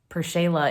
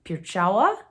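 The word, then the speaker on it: Pierchała: i don't know um i think it's actually pierchawa because the l has a slash through it in polish that makes a w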